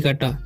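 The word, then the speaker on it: coat: सी ठीक है तो सी के बाद क्या रहता है ओ रहता है तो क्या हो जाता है सी का उच्चारण क हो जाता है ठीक है तो क हो जाएगा ठीक है ओ का उच्चारण हो जाएगा औ ठीक है क्योंकि तीन लेटर के बीच में ओ रहता है तो ज्यादातर ओ का उच्चारण औ होता है तो क और टी का ट पढ़ेंगे कोट ठीक है उसी तरीके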